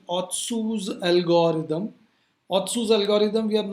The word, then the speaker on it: Otsu: something what is called otsu's algorithm otsu's algorithm we are not keeping when you pronounce also sometimes t is silent or some people call it osu's algorithm we are not keeping